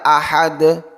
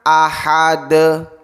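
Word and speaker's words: أحد: Artinya, ketika kita membaca ahad, ahad, kita tidak boleh membacanya sebagai ahada, ahada. Satu harakat penuh. Aha. Itu adalah satu harakat lengkap. Namun, refleksi hanyalah sebagian dari harakat. Ahad. Ahad. Bukan ahada atau ahadi.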